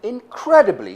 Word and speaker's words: incredibly: I saw a movie with an incredibly strong man in it. Incredibly. How many syllables does that have? 4 syllables. And the second one is stressed.